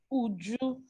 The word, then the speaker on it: Uju: It's actually quite easy to pronounce. It's Uju, that's UJU, but the surname, is a compound name.